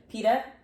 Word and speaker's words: PETA: how do you say Peta P oh pea Peta p e ta and then she was she